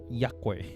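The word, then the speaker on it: Yaque: Yakwe. Same as that. You pronounce Ya is Y-A and Q-U-E as Kwe. Kwe.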